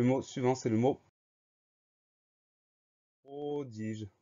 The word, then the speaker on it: prodige: Le mot suivant, c'est le mot prodige. Première syllabe, pro, P-R-O. Deuxième syllabe, di, D-I. Troisième syllabe, je, G-E. Donc, le son J s'obtient avec un G.